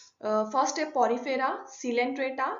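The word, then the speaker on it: Coelenterata: के first step Porifera सीलेंंट्रेटा silent त्राता को need area भी बोलते हैं सी साइलेंट होता है यहां पे तीनों फेरापोरा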